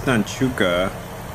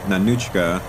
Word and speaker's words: Nanuchka: abandoning ship turn to so this nanuka oh Nan nanuchka I was saying it wrong the whole time nanuchka um does have Sam